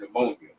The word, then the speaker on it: pneumonia: Like the P is silent in the word pneumonia.